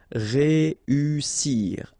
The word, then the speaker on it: réussir: Okay, so here, vowel, second vowel here, and then double S. So in that case, you've got to pronounce it like a real strong S. S. Réussir.